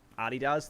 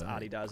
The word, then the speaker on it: adidas: over the whole um Adidas thing. Uh and yes, I will stick to my guns by calling it by pronouncing it the way it's supposed to be pronounced Adidas and not Adidas.